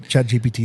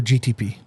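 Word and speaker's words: ChatGPT: Chat GPT hit in again. Or GTP. You said it right the first time.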